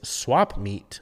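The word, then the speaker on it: Swap Meat: One More Game has an upcoming release, Swap Meet, that is spelled SWAPMEAT, not like swap meet, like a meeting, but meat like the food.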